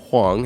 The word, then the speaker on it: Huang: FTX co-founder Gary Wang, now those are two different ones if you're not understanding the pronunciation. One is Huang and one is Wang.